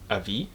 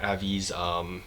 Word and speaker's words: Avis: is actually with Jack Avis. I think that's how you pronounce it, Avis, A-V-I-S, Avis, Avis. I'll just say Avis just for the sake of it.